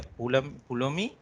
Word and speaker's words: Pulumi: I'm pronouncing it's like a Pulumi. So some of them might pronounce in another way.